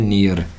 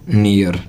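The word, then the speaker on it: near: हम जिसको बोलते हैं नियर नियर क्या बोलते हैं हम इसको नियर ठीक है जो की हमारा उच्चारण बिल्कुल गलत है इसका सही उच्चारण होता है निया क्या होता है निया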